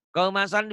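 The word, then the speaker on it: قَوْمًا صَالِحِينَ: Qauman sholihin dibacanya ada apanya? Ada engnya. Ada engnya. Walaupun engnya nggak banyak ya.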